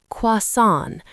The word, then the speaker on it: croissant: This is a French word, so the spelling is tricky, but we say it like "kwah-son".